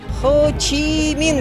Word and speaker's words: Хо Чи Мин: Хо Чи Мин, говорят, так правильно произносится.